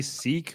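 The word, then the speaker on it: Sikh: um okay like I we in Canada don't we usually say seek but he was kept saying sick sick I think it's pronounced sick sick okay soir fair enough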